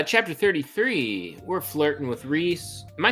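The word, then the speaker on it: Rhys: R re Reese re the audio book says Reese it's re I think I think universally agreed upon Rees okay the audio book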